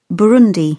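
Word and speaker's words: Burundi: I'm just going to double check the pronunciation before I give it to you. It is Bundi.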